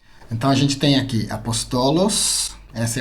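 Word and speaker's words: ἀπόστολος: dedique ao pastorado Então a gente tem aqui apostolos essa é a pronúncia profetas temos Evangelistas temos penas penas é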